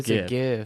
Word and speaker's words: GIF: it's a GIF, It's a hands hard G.